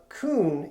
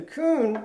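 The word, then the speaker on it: Kun: little bit more expensive, Coon is a great alternative. Coon is spelled K-U-N.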